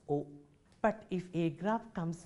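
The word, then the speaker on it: au: and form a new article a u pronounced as o but if a graph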